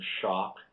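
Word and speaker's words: Schoch: the last name of Schock? Yeah, it's funny, isn't it? It's not spelled the same way, but that's how it is. That's how it's pronounced. S-C-H-O-C-H is how it's spelled.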